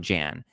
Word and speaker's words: Jan: But I was also sad that I'm going to call him Jan cuz his name is spelled Jan. And saying Yan is just kind of I don't like it.